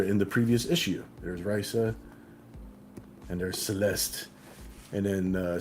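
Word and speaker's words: Raissa: or the other uh it's spelled r a i SS a like I I keep on pronouncing it Risa some people said Risa but I'm I'm just I'm Risa Risa is her is her name so yes it is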